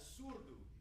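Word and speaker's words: surdo: yes so we're approximating this instrument called the surbhu or suit in the Rio pronunciation s-u-r-d-o which in Portuguese means uh as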